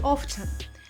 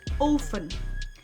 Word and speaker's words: often: It's tempting to say often, but T is silent. Pronounce it often. Like in I often go for a walk in the park.